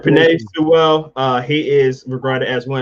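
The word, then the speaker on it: Penei Sewell: So it's Penny Sewell from Oregon, if I say it right. Pinay Sewell. Yeah. Panay. Sorry, Panay. All right, Panay Sewell.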